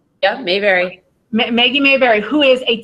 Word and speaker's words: Mayberry: Our guest speaker today is Maggie, I hope I don't say your name wrong, Mayberry? Yeah, Mayberry.